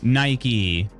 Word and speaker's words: Nike: I don't know, the T kind of goes in the second syllable for me. Nike or Nike? Nike.